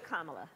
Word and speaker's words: Kamala: pronounce your name kamala so just think of like the punctuation mark a comma and that at a law and there you go and so so